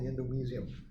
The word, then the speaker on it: endomysium: First, the one that I've kind of showed you or hinted at already is called the endomysium. That's how you pronounce that term.